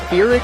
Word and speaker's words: Pyrrhic: This is sort of I think the correct way to pronounce it is Pyrrhic.